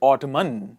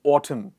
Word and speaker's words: autumn: list is silent n we don't say ottoman we say autumn what is it autumn